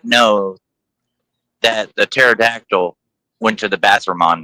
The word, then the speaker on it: pterodactyl: Why did they not know that the pterodactyl went to the bathroom on them? Because the P is silent.